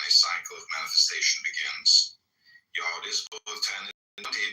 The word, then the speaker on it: Yod: The 10 ineffable Sephiroth, Yod pronounced Yode, transcribed as I or Y, the number 10, meaning creative hand, the intelligence of will.